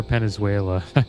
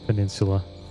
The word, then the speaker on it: Peninsula: us to call it Hellfire penuela like what the the heck are you talking about it's how he pronounced uh Peninsula but I do that